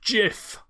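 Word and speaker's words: GIF: laugh a couple times it's pronounced jiff you know I was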